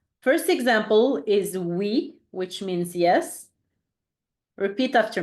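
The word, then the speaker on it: oui: phonetic sound like we said before when we were talking about the Y so it's like the e in C so e first example is we which means yes repeat after me we your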